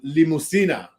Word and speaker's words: Limusina: But as I was telling, my guy I went with, it's, it's kind of like limousine in Spanish, but without the U is spelled, instead of the O is a U in there.